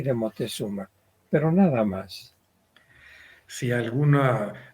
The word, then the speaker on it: Moctezuma: Aquí se llama la pieza Moctezuma, pero también lo encontramos como Montezuma con N, sí. y actualmente en nuestra época le decimos Moctezuma, enfatizando la C.